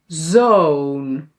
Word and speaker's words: zoon: vis vies or pit piet then o versus oo bos boos zon zoon Yeah? One letter, two letters. Short, long.